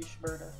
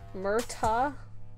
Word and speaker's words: Shmurda: S.H. Murda, like murder.